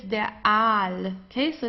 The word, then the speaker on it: Aal: So here it's der Aal, okay, so it's not al, it's der Aal, long A, Aal.